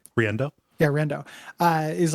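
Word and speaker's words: Riendeau: I mispronounced her last name, right? Riendo. Right? Riendo. Yeah, Riendo.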